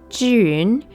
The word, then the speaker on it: Zhiyun: and I'm supposed to be Chinese um it's pronounced Jun I never really learned Mandarin in a serious